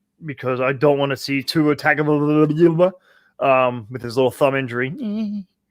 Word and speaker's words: Tagovailoa: And it'd be great if Ryan Fitzpatrick would start because I don't want to see Tua Tagovailoa with his little thumb injury.